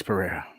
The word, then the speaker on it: Pereira: Pereira.